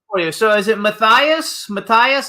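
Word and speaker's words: Matthias: have a question for you so is it Matias Matias how do we pronounce it correctly it's Matias Matias see that's what I said I said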